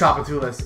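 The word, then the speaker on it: Tchoupitoulas: Chapatula sounds like a Final Fantasy. It's enemy. Pronounced Chapatulas.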